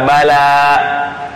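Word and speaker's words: بلى: Jawaban kita adalah bala. Bala ya, bala, bala. Bukan, jadi tulisannya itu huruf ba, la dengan ya. Kalau ba lam alif tambah hamzah, itu bala. Itu artinya bencana. Hati-hati bacanya, bala.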